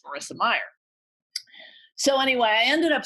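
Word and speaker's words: Mayer: meyer on video and he pronounced meyer correctly which which is always a sign the former ceo of yahoo a lot of people say i mean i yeah a lot of people say mayor but it's marissa meyer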